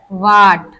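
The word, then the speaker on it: what: भी हमारा H silent हो जाता है, एच साइलेंट रहता है। फॉर एग्जाम्पल वाई, तो हमारा हु, वाई, और वाट, वेयर।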